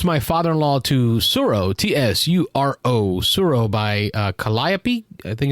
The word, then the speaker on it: Tsuro: this week i introduced my father-in-law to suro t-s-u-r-o suro by uh calliope i think is how you pronounce it games and it's a abstract tile